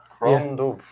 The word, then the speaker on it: Crom Dubh: Gromdo. Yeah, Crom Dubh. Crom Dubh. it sounds like a doof.